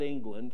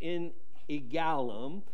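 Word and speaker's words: En Eglaim: probably pronounce that wrong it's not england it's in a gallum there will be places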